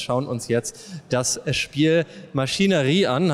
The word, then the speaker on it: MachineRe: uns jetzt das Spiel Maschinerie an habe ich das richtig ausgesprochen ja machinerie geht auch okay und bei mir